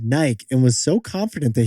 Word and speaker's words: Nike: intro to today's podcast one of the most historically mispronounced brands of all time what is it Jack yeah we've always said Nike like two syllables I feel like we